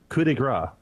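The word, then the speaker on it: coup de grâce: Coup de grace.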